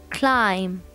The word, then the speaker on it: climb: So climb has the word B at the, I mean the letter B at the end, but we don't pronounce it, it's silent.